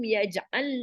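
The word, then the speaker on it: يجعل: That is, yaj'alu is not pronounced, but this only pronounced as yaj'al.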